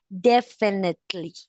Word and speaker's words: definitely: So, you pronounce definitely. Like the I here doesn't sound E, but definitely.